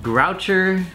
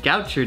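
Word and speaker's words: Gaucher: Groucher. There's no R in there. Yeah, there is Groucher. Not at the beginning. Goucher disease.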